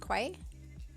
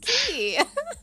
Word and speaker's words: Quay: But I thought it was South Quay. I didn't know. Like, how are you meant to know that it's pronounced Key?